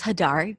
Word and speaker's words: Hadar: so um as you said my name is hadar pronounced it perfectly and i live in tel aviv